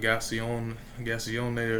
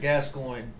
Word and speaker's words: Gascoigne: I just was like, how the fuck do you pronounce his name? And then someone was like, Gascoigne. And then I was like, makes sense.